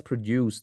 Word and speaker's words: produce: from the rules above the noun is stressed on the first and the verb is stressed on the last syllable ចឹងបើពាក្យហ្នឹងវាមានន័យ2បានន័យថាវាជា noun ផងហើយនឹងជា verb